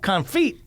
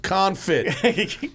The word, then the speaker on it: confit: the the Instagram page and I'm like Duck conit yeah holy hell pronounced confit confit means duck with feet duck thank you